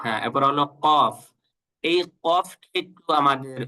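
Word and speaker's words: ق: কফ হল এটা মোটা করে উচ্চারণ করতে হয়। কফ একটু গলার ভিতর থেকে কফ কফ হ্যাঁ আমরা যদি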